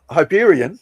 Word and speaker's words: Hyperion: It's not H. And I'm like, well, how do you say it? It's like Anyway, so Hyperion. Okay, let me get Oh, you don't say the H.